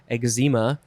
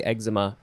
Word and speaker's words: eczema: I think some people also pronounce it eczema. That's fine. That's cool. I appreciate that. But I say eczema just because that's what I do.